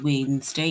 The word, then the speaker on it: Wednesday: capital W for Wednesday but Wednesday is spelled as it's it's written almost like wedness day but it's we just say Wednesday and then we have